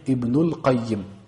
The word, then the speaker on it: Ibnul Qayyim: Donc si je dis le fils du responsable, je vais dire Ibnul Qayyim. Là, je mets le L.